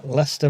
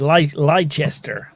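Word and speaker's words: Leicester: Lester, Massachusetts. Lchester. I've heard all sorts.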